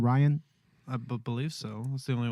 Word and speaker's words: Rian: I'm saying it's like it's pronounced like Brian but without the B yes okay I got you I got you that's interesting to know I always called it called him Rhian Johnson or something like